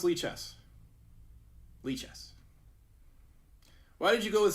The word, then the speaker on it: Lichess: How do you pronounce Lichess? Lichess.